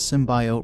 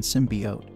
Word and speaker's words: symbiote: During the trailer, actress Jenny Slate pronounces the word symbiote as symbiote rather than symbiote, as many commentators believed it should be pronounced. This led to widespread criticism and a 35,700% increase in searches for symbiote pronunciation, according to Merriam-Webster, which noted both pronunciations are technically considered acceptable.